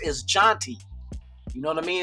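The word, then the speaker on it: Jeanty: And I definitely I don't know any Genties, but I know the way it's supposed to be pronounced is janty.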